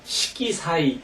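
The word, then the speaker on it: 色彩: 시기사이 선명한 색채 색채 읽을 때 뭐라고 읽냐면 시기사이 이렇게 읽는단 말이죠 그래서 아자가 시기사이 선명한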